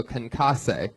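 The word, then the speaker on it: concassé: Crushed tomato concasse.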